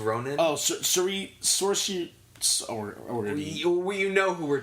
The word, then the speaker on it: Saoirse: Rampling, who got her foot caught in her mouth a few weeks ago for 45 years, and Saoirse Ronan for Brooklyn.